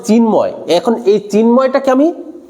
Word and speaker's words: চিন্ময়: আমি কি এইভাবে বলছি চ চ ন ম য় এইভাবে উচ্চারণ করছি? না, আমি উচ্চারণ করছি চিন্ময়। চিন মানে কি? এক, মানে এক নিঃশ্বাসে আমি উচ্চারণ করতে পারছি চিন একটা শব্দ, ময় একটা শব্দ।